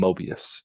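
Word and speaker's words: Möbius: mbius Transformations or Mo sometime people pronounce his name Mobius in America heard of Mobius strip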